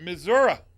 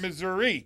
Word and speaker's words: Missouri: In Missouri. That is how you pronounce it, is that not? That is correct. Not Missouri. No. Missouri.